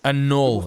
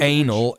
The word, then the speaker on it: annul: Annul, not anal.